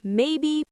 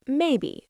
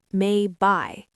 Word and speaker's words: maybe: It's maybe, not may by. Good point. The ending has a clear e sound.